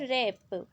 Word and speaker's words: wrap: Third है रैप, इसमें देखो W साइलेंट है।